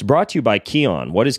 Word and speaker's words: Kion: the Ben Greenfield Fitness Show, if I can pronounce the name of my own freaking show, it's brought to you by Kion. What is Kion?